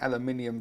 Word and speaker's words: aluminium: next up are the aluminium drip tips or for the benefit of my American viewers who pronounce it differently and spell it differently aluminum in total there are